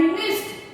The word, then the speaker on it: missed: MISSED यानी मिस्ट। हम इसे प्रोनाउंस करेंगे मिस्ट।